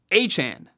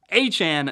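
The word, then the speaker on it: Achane: Miami Dolphins running back apparently it's Devon aan he made it very clear after his big game last week that clarifying the pronunciation I don't know why it took him so long but do you do do whatever you want to do uh we now know it's Devon aan not a chain like Jackie Chan not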